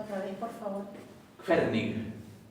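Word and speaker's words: hvernig: Quernig. Se pronuncia la G final, suavecita. Suavecita. Sí. Y recuerden que la HV se pronuncia como una KF.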